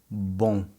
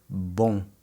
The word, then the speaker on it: bom: Let's take a look at the word for good, bom. Bom. Notice how my lips don't touch at the end.